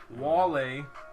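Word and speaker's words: vale: Wale is how you say bye to people. Is that how you actually say it? Like wale?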